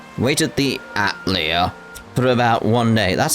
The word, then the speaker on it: Atelier: it's it's it's that that's how they want it pronounced atlea it's not a mistake it's a choice what that's